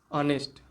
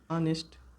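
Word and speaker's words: honest: Silent H मतलब silent वहां पे छिपा रहता है। उसकी साउंड मतलब नहीं आती है। वहां पे हम यूज़ कर सकते हैं एन का। एग्जांपल इसका देखते हैं। जैसे ऑनेस्ट ऑनेस्ट दूसरा होता है ऑनर।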